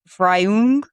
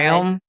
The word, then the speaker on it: Freiung: part is fry, but they said the last part is like the U in burn, but you like make your mouth different, and I'm like, that doesn't help me. So I apologize. Freiung.